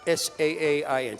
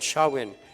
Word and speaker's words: Samhain: It comes from the Celtic Samhain. The MH is silent. It's Saai, Samhain.